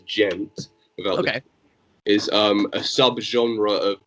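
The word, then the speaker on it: djent: know social just yet d gent or how it's supposed to be technically pronounces gent that is a sub-genre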